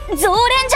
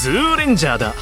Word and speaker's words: Zoo Rangers: Those guys...um, the Zou Rangers! Orange Eagle: It's ZOO Rangers! Don't mispronounce it!